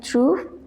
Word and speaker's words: trouvent: Ils trouvent leurs places et s'installent. Ils trouvent Again, e n t at the end of a verb is silent.